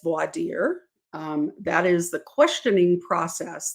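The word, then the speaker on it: voir dire: what we call voidir some people pronounce it vorder I learned it as voidir that is the questioning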